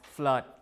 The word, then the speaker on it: flood: same thing the word flood because nowadays we pronounce it as flood like this we don't pronounce it as flu